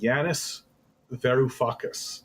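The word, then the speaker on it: Yanis Varoufakis: ruling class yeah Janis ver I can never pronounce this guy's name Janis veru fuus there you go fiddleford writes Hedges covered the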